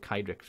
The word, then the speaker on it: Kydrix: I'm not quite sure, but I'm going to go with Kydrix because in Wales, C-A-I is pronounced Kai.